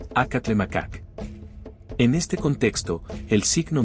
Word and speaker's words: Acatlemacac: La grafía española que acompaña a este glifo indica que el nombre se pronuncia acatle macacak.